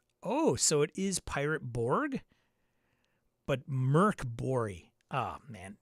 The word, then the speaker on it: Pirate Borg: Merc Bori, Dark Fort has the Swedish pronunciation. Pirate Bori is English and doesn't. Oh, so it is Pirate Borg?